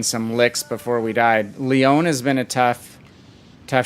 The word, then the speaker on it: Lyon: licks before we died lyon has been a tough tough ship it's not lion i know that yeah boy it's leon right the french pronunciation i only took spanish